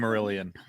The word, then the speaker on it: Silmarillion: I don't even know how to Service pronounce heads. Silmarillion.